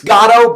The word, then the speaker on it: Garo: It's Garo, but I know who you're talking about when you say Garo, so it's fine.